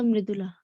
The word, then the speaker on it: Mridula: okay, your correct pronunciation of your name is Sir Mridula.